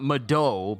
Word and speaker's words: Medoh: So it's a strong med, but a short O. So is that the way it's said? Divine Beast Va Medoh. Not Medoh, but Medoh. As if I'm saying the word meadow. Like a field, a meadow of flowers.